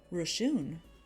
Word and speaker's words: ration: Ration. Rashun. That's how you say it, actually.